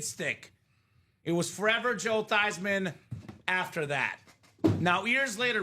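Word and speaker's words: Theismann: They said, "Joe, let's change your last name from Theman to Thyman." So we can say Thyisman for the Heisman.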